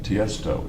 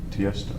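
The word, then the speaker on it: Tiësto: e s t o so the name is Testo it's not initials it's Testo yes okay okay I'm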